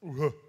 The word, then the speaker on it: u-he: It's very hard to pronounce. Uhe.